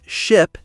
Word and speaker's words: ship: So, the key is ship has a short I sound. Sheep has a long e sound. Here's a tip. When saying sheep, smile a bit more and stretch the sound. Sheep. And for ship, make it short and quick.